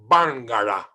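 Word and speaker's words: Barngarla: dictionary of the barara let me repeat it's not bangara it's barara bangala bangala is spelled with an R because this is a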